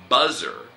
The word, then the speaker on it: buzzer: Okay, first is buzzer. 日本語でブザーというのね。 Right. 英語で buzzer. Buzzer. Good. How do you spell it?